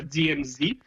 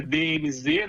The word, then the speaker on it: DMZ: Uma das maiores aqui é a DMZ, é DMZ, né? Aqui no Canadá eles não falam o Z, eles pronunciam diferente, né? Eles pronunciam Zé. DMZ?